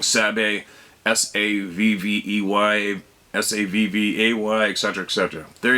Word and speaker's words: Sabe: I just wanted to share with you how we, the Anishinaabe people, pronounce Sabe, and that's it. Sabe is how you pronounce S-A-B-E, and that is what we call Sasquatch, Bigfoot, Sabe.